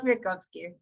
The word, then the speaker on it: Kviatkovsky: Kviatkovsky.